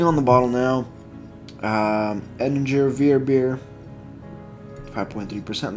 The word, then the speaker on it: Weissbier: W is pronounced as V's. Yeah, Weissbier.